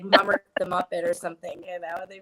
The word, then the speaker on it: Mummert: No, it's kind of weird because people always say my last name wrong, but it's Mummert.